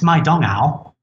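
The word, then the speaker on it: 麦当劳: english letters mcdonald's because in china mcdonald's isn't mcdonald's it's my dong owl so for the average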